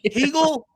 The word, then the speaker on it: Hegel: Hegel. Like, it's not that hard. It's five letters. It sounds like bagel. It's spelled like bagel with an H.